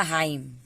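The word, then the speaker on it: hymn: जब भी एम और एन एक साथ आएगा तो वहां पे एन साइलेंट हो जाता है, एम तक ही हम उच्चारण करते हैं। इसका होगा हाइम। इसका होगा ऑटम।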